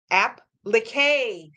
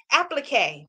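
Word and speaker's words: appliqué: me uh pronounce athlete it's pronounced app lickay applique thank you I could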